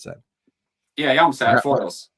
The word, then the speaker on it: Foyle: Foils, like the tin foils. Foil. There we go. Like plural foil.